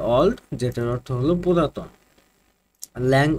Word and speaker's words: Auld: তো এই যে অলড এটার উচ্চারণ হবে অলড যেটার অর্থ হলো পুরাতন